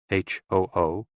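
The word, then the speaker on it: 呼: Hoo, pronounced like hu, which is associated with the spleen, and Xi, pronounced like shi, which connects the whole body.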